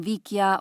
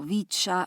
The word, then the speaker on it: Vicia: pertenecen al género vicia con el latín vikia o bicha pero como yo la aprendí